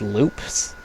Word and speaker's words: Lupe: By the way, Lupes are also technically pronounced Loops.